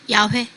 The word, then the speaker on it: 야훼: 야훼. 야훼. 예, 또 아도나이. 아도나이는 주님이라는 뜻이지 그 자체가 이름은 아니에요. 영어로 롤드, 주님 이런 뜻이고 또 야훼를 다르게 발음해서 예. 여호와라고 네. 흔히 예. 번역을 하죠.